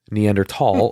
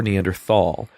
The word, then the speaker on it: Neanderthal: It was it's socially acceptable or scientifically acceptable to say either Neanderthal or Neanderthal. A lot of scientists say Neanderthal, even though that doesn't necessarily mean that's the right way to say it.